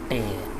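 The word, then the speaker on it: tea: your ministers, and sometimes tay. So here it is pronounced as tay, not t, because it's couplet and it is rhymed with obey.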